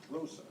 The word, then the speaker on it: Roosa: How do we pronounce his last name? Roosa.